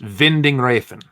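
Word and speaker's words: Winding Refn: Uh, it's it's Vinding, right? Actually, it's Vindon. It's I looked it up on Wikipedia. It's pronounced Vending Rafen. Okay. Nicholas Vending Rafen.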